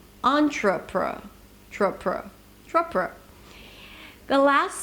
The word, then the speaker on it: entrepre: If you remember, these are the schwas. Entrepre, entrepre, tr-pr, tr-pr.